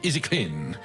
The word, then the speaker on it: Easy Clean: Alors prononcer Easy Clean.